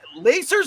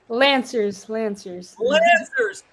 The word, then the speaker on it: Lancers: She played for the University of Windsor Lacers or Lancers, Jaydlin? How do you say it? Lancers. It's just like you lance the tumor.